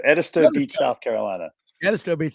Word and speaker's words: Edisto: Tommy Kane and uh shame on me uh pronounce the name of the beach where you are Edisto Edisto beats South Carolina Edisto Beach South Carolina if